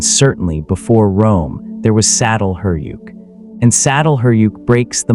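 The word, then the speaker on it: Çatalhöyük: The discovery saddle huryuk pronounced roughly chhatal huyuk means forked mound in Turkish which is a functional description of the site's geography.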